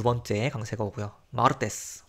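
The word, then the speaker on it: martes: 마르테스, 화요일인데 이제 s로 끝났으니까 맨 앞에 뒤에서 두 번째 음절에 강세가 옵니다.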